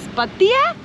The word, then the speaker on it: Pattaya: And also the Thai, they pronounce it differently. They pronounce it as Pattaya? Pattaya. Pattaya. Pattaya. But we are tourists, so we're just gonna stick with Pattaya.